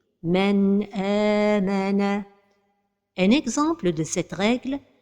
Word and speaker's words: مَنْ آمَنَ: Donc la prononciation correcte est مَنْ آمَنَ.